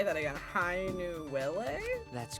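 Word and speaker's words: Hainuwele: i find you interesting is how do you pronounce that hi nuella hi nuele i butchered that didn't i um i have i don't know if i can say that again hi new willie that's correct it is the name of a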